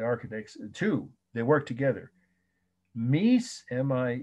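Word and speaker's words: Mies van der Rohe: capital r-o-h-e for short architects just call him meese like he was a god okay he was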